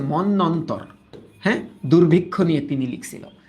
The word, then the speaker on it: মন্বন্তর: 50-এর মনন্তর, 50-এর মনন্তর, মানে উচ্চারণটা হচ্ছে মন্বন্তর, হ্যাঁ দুর্ভিক্ষ নিয়ে তিনি লিখছিল এটা।